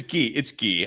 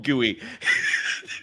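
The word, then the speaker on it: Gui: It's Guey. I love that you call him Gooey. Oh, that's not that. Dude, you might have started something there, man. Guey Santos, man.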